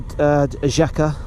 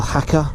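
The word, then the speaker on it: Jaca: still going to go to Jaka, or Haka, as it's pronounced.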